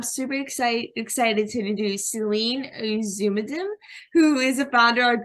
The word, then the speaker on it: Ozunaldim: It's Ozunaldim.